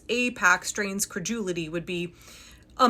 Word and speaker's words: AIPAC: far back as 2019, where Pakman can clearly, capably pronounce AIPAC correctly. AIPAC, support AIPAC. A few moments later. Outrageous claims suggesting that it's AIPAC or IPAC.